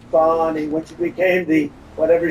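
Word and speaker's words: Fani: know about fonny Willis is any fonnie pronounced fonnie f a n i that's Fanny and she likes it fonnie when she became the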